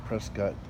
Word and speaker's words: Prescott: well, where I'm standing right now is in Prescott, Arizona is how they pronounce it.